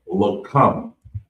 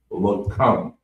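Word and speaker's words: לחם: So the next word is bread of food, and it's pronounced lakam, and it's spelled LACHAAM, lakam, and it means bread of food.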